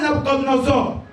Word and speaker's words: Nabucodonosor: Parce que quand Nabucodonosor, ou Nebuchadnezzar, ça dépend de la prononciation, il prend et il va vaincre le royaume d'Israël.